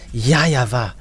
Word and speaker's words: YAHVAH: In Eastern part, the W for them, they pronounce it as V or B. It must be either of them. So here it is really seen, the W is really V, but it's the Western who changed it into W. But in Eastern countries, it's the W, they really pronounce it as V, not W.